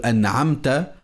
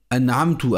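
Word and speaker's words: أنعمت: L'erreur qui change le sens, c'est par exemple prononcer la lettre ta de an'amta avec le son ou, an'amtu avec la dhamma, ou bien avec le son i avec la kasra en disant an'amti.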